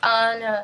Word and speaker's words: Ana: I also found out that the correct pronunciation of my name is Anna.